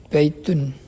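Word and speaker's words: بَيْتٌ: baitun, baitun kita perhatikan ini ada akhiran tanwin. Jadi dibaca baitun. Baitun. Sedangkan di sebelah kiri dia memakai alif lam. Ada alnya. Dan di akhirnya dia tidak ditanwin. Jadi bacanya al baitu.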